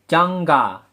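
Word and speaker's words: 잠가: Bacim miem berubah menjadi yang ketika bertemu dengan konsonan giok. Jamga berubah menjadi jangga pelafalannya. Penulisannya jamga, pelafalannya menjadi jangga.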